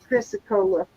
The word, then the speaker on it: chrysocolla: Chrysocolla.